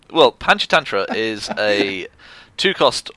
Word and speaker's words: Panchatantra: I'm glad you're reading the next card because I cannot pronounce it. Oh, Panchatantra. I'm just Panchetta. It's Panchetta. I'm sorry. It's Panchatantra.